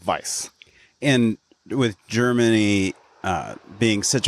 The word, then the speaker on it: Weiss: However, I'm pronouncing it the German way because it's spelled W-E-I-S-S, and German, a W is pronounced like a V.